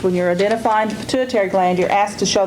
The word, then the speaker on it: pituitary: is the endocrine system pituitary gland and on pituitary notice it's spelled pit UI ter R tar y pit U I ter it's not pronounced quite the way it's spelled and so you have